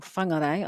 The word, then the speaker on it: Whangarei: And she is from Whangarei, or Whangarei, I should say it properly, Dana.